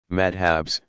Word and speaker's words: madhab: Students in a madrasa, pronounced madrasa, pursue a curriculum built around the teaching of one of the legal methodologies, madhabs, pronounced madhab, and eventually receive credentials, a kind of license, as professional religious scholars.